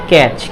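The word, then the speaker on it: catch: अगर टी के बाद सी एच हो तो टी हमेशा साइलेंट होगा। अब टी के बाद क्या है, ये सी एच है। क्या है, सी एच है, तो टी क्या हो जाएगा, ये आपका टी आपका ये साइलेंट हो जाएगा। तो क्या हो जाएगा, ये कैच।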